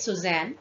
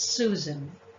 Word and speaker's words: Susan: it's Susan I apologize I pronounced it as Suzanne but it's Susan number seven yes coco in